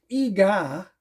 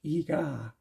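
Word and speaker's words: Eegah: So this has Manos, The Hands of Time, Track of the Moon Beast, The Beast of Yucca Flats, Ega, it's spelled E-E-G-A-H, Ega, The Ape Man, The Amazing Transparent Man, The Atomic Brain, Dementia 13, which I've seen, and it's not so good.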